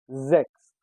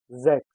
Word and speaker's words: sechs: In German language, S sounds as Z.